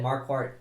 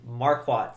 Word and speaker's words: Marquardt: yeah as you said marquart just fought and I apologize if I say his name wrong I actually uh pronounce his name marquat sometimes because of Lord farat from Shrek yes I'm a fan deal